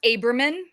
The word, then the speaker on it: Abramyan: It's pronounced Abramyan.